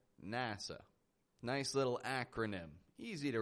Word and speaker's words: NASA: Not a NASA, but NASA.